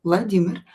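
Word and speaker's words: Владимир: In Russian language, this this name Vladimir is pronounced with e stress, not the first e, not the second one like in English.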